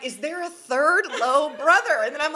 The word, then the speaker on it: Lowe: a Tampa Bay Ray, last name Lowe, pronounced Lowe, and his wife going through this fertility journey, and they had a baby, and it was beautiful.